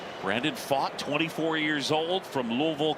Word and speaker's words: Pfaadt: Talked with Pfaadt yesterday, and he joked his name is spelled P-F-A-A-D-T. And then he went to Bellarmine. He said a lot of times he was fat from Bellarmine.